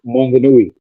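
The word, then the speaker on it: Maunganui: Mount Mongani, I think if I pronounced it right. Mount Monganui.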